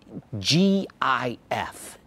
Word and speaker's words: GIF: question before we get started how do you pronounce g-i-f it's pronounced gif but i used to get